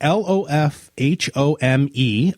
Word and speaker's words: Lofholm: So it's Eric, Lofhome, okay, is his name. So find him. Actually, the home is the pronunciation. So it's Lofholm is the spelling.